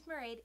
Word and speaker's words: Mairead: My name is Mairead, it rhymes with parade, and welcome to my channel.